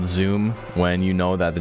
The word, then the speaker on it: Zoom: Why does Jack call Zooms Zum for some reason? And it's like all of the media in the Monster Hunter canon is like yelling at you that it's Zoom.